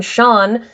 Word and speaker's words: Sean: For the record, S-I or S-E in Gaelic is pronounced as an S-H much of the time. That's why the name Sean, S-E-A-N, is pronounced as though there's an H in there.